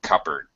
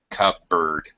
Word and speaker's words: cupboard: this last word cupboard the P is silent sounds like cupboard cupboard no peace out cover